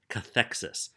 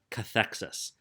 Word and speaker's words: cathexis: term called that's not written here it's called cathexis cathexis is spelled CA th e X I s cathexis